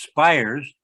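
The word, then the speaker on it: Spiers: how do you spell his last name s-p-i-e-r-s pronounced spires okay if he's still alive he lives in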